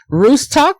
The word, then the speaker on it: Ruscsak: Now it's supposed to be Ruscsak, but I can't say it properly, but let me give her wonderful intro.